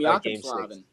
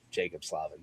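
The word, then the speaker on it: Jaccob Slavin: Some would even call him Jakob Slavin. That's how it's spelled. Yeah, but I've learned that he's American and it's Jacob Slavin.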